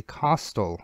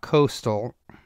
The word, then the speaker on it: costal: bottom there of the costal cartilages let me spell that here remember it's not Coastal like it's on the Seacoast right it's costal uh so the costal